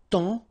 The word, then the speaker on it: temps: And then temps, okay, so in that case, it's only the nasal here that you will hear, temps, okay, because the P is not pronounced and the S is not pronounced.